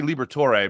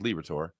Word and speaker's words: Liberatore: I always want to say Liberatore, but it's just Liberatore.